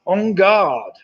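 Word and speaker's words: en garde: The ready position prior to the start is on guard. On guard. And it's spelled E-N, guard, G-A-R-D, which is why it made it a bit tricky.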